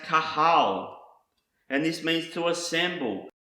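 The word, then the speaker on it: קָהָל: Another word that starts with the letter Qoph is pronounced kahal, and this means to assemble, gather, the congregation, convocation.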